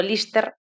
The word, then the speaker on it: Liste: Entre os dous filmes pode destacarse o documental Santa Libertade, liste pronunciado Lister, a cicatriz branca en